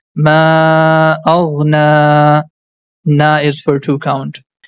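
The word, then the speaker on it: ما أغنى: And one more thing, whenever you see the small alif is written top of letter ya, that time letter ya becomes silent. So we are not going to pronounce that. So the first word becomes ma aghna.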